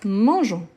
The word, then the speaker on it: mangeons: lieu de je donc je garde le E qui vient là dans mon radical donc on dit nous mangeons au li des n mangons donc les e il apparaît ici mais je ne les prononce pas donc nous mangeons nous